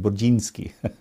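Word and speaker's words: Burzynski: Burdzinski from Texas. Actually, in Polish, you would say his name Burdzinski, but that's how I always thought it.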